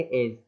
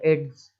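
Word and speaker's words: edge: आ रहा है और डी जो है साइलेंट हो जाएगा अगर जी के पहले आएगा, तो केवल पढ़ेंगे एज, एज, है ना, इसको लोग पढ़ते हैं एड्स, ऐसा नहीं पढ़ना है, एड्स नहीं हो गया।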